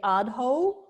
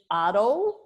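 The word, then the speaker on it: adho: if you noticed but I didn't say adjo it's Otto so Otto Muka svanas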